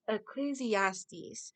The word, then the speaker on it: Ecclesiastes: about to look I ain't perfect I couldn't pronounce this right let me look this up eclesiastes Ecclesiastes so the writer of Ecclesiastes said there is